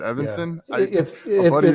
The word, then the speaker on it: Evenson: we've been talking today saying Evon is it Evanson yeah friend of mine his last name was Evon so I saw it same spelling I apologize EV everybody I I think I think even since the the original pronunciation but we got switched to Evanson when we came to the states I think so gotcha